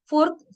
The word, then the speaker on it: fourth: Next word is here फोर्थ FORTH and second word is here FOURTH, okay. म्हणजे याच्यामध्ये बघा हे आणि हा साऊंड सेमच आहे, फक्त स्पेलिंग डिफरंट आहे. फोर्थ, फोर्थ.